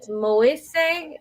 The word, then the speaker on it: Moise: His name is Sen and then Moise is how you say it, but that's how you spell it right there.